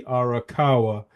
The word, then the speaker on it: Arakawa: uh Arawa sorry if I P pronounced her name wrong again it's Betsy arakawa uh that's his wife uh 63 years old